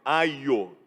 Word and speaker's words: aio: Um aio, tome cuidado com essa palavra com pronúncia, porque ela pode parecer alguma coisa culinária, mas não é. É aio.